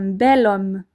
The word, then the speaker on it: bel homme: on dira donc un bel homme et vous entendez encore une fois cette liaison qui est plus simple à dire un bel homme on le dit en